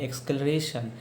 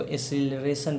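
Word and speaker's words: acceleration: और एक्सक्लरेशन, इसको एक्सक्लरेशन नहीं पढ़ाता है, इसको एसिलरेशन पढ़ा जाता है। ठीक है। इसका एग्जैक्ट प्रोनाउंसिएशन होता है एसिलरेशन।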